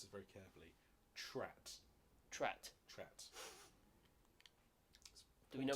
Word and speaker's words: TRAT: He's a member of, I'm going to pronounce this very carefully, TRAT.